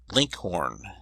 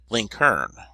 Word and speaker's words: Lincoln: in Virginia and Kentucky his name was commonly pronounced Linkhorn and in Indiana link Kar the usage was so